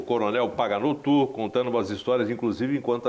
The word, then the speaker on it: Paganotto: De frente com a notícia, estou aqui de frente com o coronel, eu não quero pronunciar errado o seu nome, Paganotto.